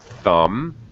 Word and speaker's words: thumb: correct very good yes usually when you see m b this uh mb together usually it's silent b like thumb you have four fingers